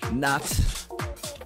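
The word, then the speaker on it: Nahte: Going with some new Frustra featuring Nat.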